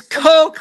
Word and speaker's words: Kok: It's Coke like the soda.